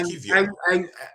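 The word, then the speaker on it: Kiwior: It's pronounced Kivior.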